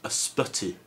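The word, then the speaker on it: ysbyty: word have three wise in it and it's a spotty it's the wealth word for hospital so the first y is pronounced last earth the second one is pronounced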